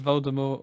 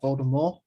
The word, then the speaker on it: Voldemort: Yeah, because I think you're supposed to pronounce Voldemort like Voldemort. Voldemort. To the T.